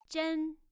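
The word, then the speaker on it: 人: you say human or person or people that's Jen with a second time Jen all right Jen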